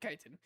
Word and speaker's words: chitin: This exoskeleton is made up of a substance known as chitin, chitin. That's how you say it, chitin.